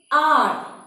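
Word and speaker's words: hour: Here, H is silent.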